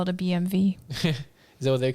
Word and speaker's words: BMW: that's the sound that's how you pronounce the w oh gosh you guys are yeah it's a bmv bmv so i was thinking the actual letter v but it is a w it's still a w but it's not a v but phonetically genetically is a v huh bmv i i'm